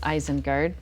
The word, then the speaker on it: Isengard: called the isengard tavern but it's spelled eyes like your eyes and guard like somebody who's guarding it's very clever eyes and guard but it's eyes and guard when you say it out loud so that's fine anyway